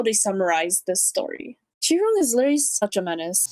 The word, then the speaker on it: Qi Rong: Chiron. Chiron? It's not even Kai. It's literally Chi.